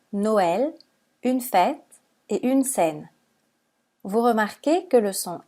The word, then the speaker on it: scène: un accent alors que dans le mot scène on a ajouté un accent grave pour indiquer la prononciation et dans les mots